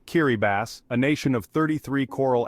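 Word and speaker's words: Kiribati: Next, Kiraabati, pronounced Kiribbass, a nation of 33 coral atoles straddling all four hemispheres.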